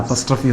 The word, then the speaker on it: apostrophe: இதுக்கு பேர் என்னன்னு கேட்டிங்கன்னா எல்லாரும் APOSTROPHE இதை வந்து அப்பாஸ்டர்ஃபின்னு உச்சரிப்பாங்க. இதனுடைய உச்சரிப்பு அப்பாஸ்டர்ஃபி, அம்மாஸ்டர்ஃபி, தாத்தாஸ்டர்ஃபிலாம் கிடையாது. இதனுடைய உச்சரிப்பு அப்பஸ்ட்ரஃபி. அப்பாஸ் சொல்லக்கூடாது, அப்பஸ். டிக்ஷனரி எடுத்து பாருங்கள். அப்பஸ்ட்ரஃபி இதனுடைய உச்சரிப்பு.